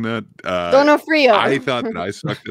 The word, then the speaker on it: D'Onofrio: Donofrio. I thought that I sucked at it. Yeah, that's how we say it, like Americanized, but I don't know